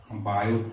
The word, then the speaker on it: Biot: বায়ো Savart সূত্র, এবং এখানে বায়ো টিটা সাইলেন্ট থাকে।